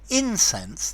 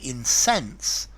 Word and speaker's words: incense: and then to incense notice the difference in pronunciation incense the the thing that smells and to incense um to make really